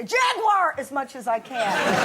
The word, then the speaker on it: Jaguar: How am I saying Jaguar, 3 syllables over here.